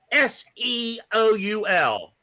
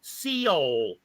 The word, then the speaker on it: Seoul: does is read articles, there was the word SEOUL, and he could not pronounce it. How do you pronounce this? He goes, Seoul.